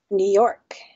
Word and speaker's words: New York: You say New York or you say New York? New York. New York? New York. Yeah, stress on York.